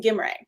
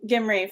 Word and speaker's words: Gimrae: best i can tell he actually pronounced his last name gimrae so instead of re i called him gimmery for about six months before someone finally corrected me i was like stop